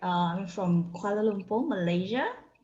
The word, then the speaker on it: Kuala Lumpur: i saying this quite correctly did i say kuala lumpur am i pronouncing that right yes correct um from kuala lumpur malaysia right well tell us a little bit